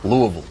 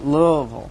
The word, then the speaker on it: Louisville: it right Louisville o Louisville yeah you need one more syllable Louisville Louisville very good very